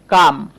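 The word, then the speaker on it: come: ঠিক তেমনি করে ধরেন আমি বলতে পারি কাম। খেয়াল করেন কাম বানানেও কিন্তু আমরা ওকে আ উচ্চারণ করছি।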